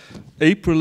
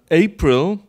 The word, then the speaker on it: April: the first word uh April and April in in German uh I think like in your languages as well uh yeah yes so we we are we are um unified in stressing the second syllable but the English don't so um so this